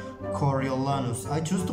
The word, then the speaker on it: Coriolanus: english pronunciation is snow in my language which is spanish we would say coriolanos coriolanos but i think there is a name a version of this name coriolenus coriolanus i prefer coriolis who